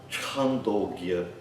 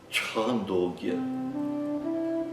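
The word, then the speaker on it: छान्दोग्य: Então, baseia-se na consoante anterior, mas tem esse aspecto gutural, aspirado, é representado na transliteração como CH.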